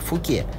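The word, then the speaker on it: Fouquet's: ресторан мировых звезд пхукетс Обратите внимание что фамилия его основателя читается как фуке но ресторан называется Пхукет кроме ресторанов и магазинов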